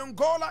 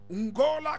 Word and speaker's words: Ngola: And Angola itself, translated in the Matamba and Ndondo language, simply means king. So he was Angola Colombo. Angola Colombo. Angola is spelled N-G-O-L-A. Colombo is K-I-L-O-M-B-O.